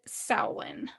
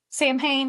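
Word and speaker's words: Samhain: France, the Celtics celebrated Sin. It took me forever. Like, even though I know what it says, when you look at it, it does not look like it is spelled sin.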